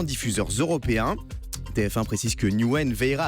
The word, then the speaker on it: Newen: N-E-W-E-N. N-E-W-E-N. Newen. C'est de l'anglais.